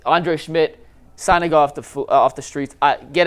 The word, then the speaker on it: Szmyt: Like Andre Schmidt signing off the streets.